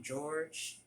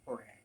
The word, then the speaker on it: Jorge: There was a guy named Jorge, but everyone called him George. His name it was spelled with a J, but everyone called him George, and I think I was the only person that called him Jorge.